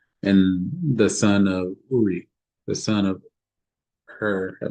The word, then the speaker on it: Uri: See, I have called by name Betsalale, the son of Uri or Kuri? Uri. Okay. Meaning fiery, and this name means shadow. Um, say I've called by name uh, Betsalale, and the son of Uri, the son of Hur, that might be Ker.